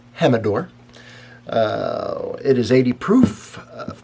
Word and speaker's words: Jimador: all right el Jimador looks like it's Jim adore but it's actually pronounced hem adore it is 80 proof